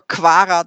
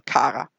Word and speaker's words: Quarantäne: And in the 51 to 60-year-olds, all of a sudden you have more kvara than kara.